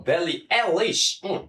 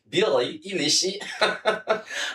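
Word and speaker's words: Billie Eilish: And this is coming from Belly Elish. I think I got that right. And don't forget um Shasha and um V would have said no no that's not how it's pronounced is Billy Elish.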